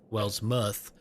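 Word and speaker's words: Wellsmouth: mouth has a u wells muth but it's it would look like well's mouth but it is pronounced well's muth and it's it's yeah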